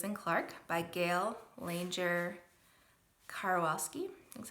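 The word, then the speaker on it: Karwoski: Then we moved on to Seaman, the Dog Who Explored the West by Lewis and Clark by Gail Langer Karwalski, is how you say it.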